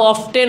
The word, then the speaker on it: often: হাউ অফটেন অথবা এটাকে হাউ অফেন উচ্চারণ করে অনেকে, কি বলে বলেন?